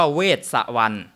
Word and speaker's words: เวสสวรรณ: ไม่ มี สุข เออ ชื่อ จริง ๆ ของ เขา เนี่ย ชื่อ ท้าว เวช สวรรค์ ไม่ มี สุ แต่ คน ไทย ออก เสียง ไม่ เก่ง เออ ก็ เลย ไป เติม สระ อุ ให้ เขา หน่อย กลาย เป็น เวสสุวรรณ อ่ะ กลาย เป็น เวสสุวรรณ